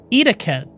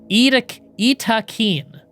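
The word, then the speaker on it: Yttakin: The official biotech news post said that is pronounced Itakeen. Itakeen.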